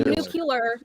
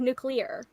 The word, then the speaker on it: nuclear: way he said it well he would say nucular instead of nuclear they're both they're both correct they're both in